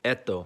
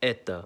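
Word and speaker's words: это: You think it would sound like eto, but it's pronounced as eta.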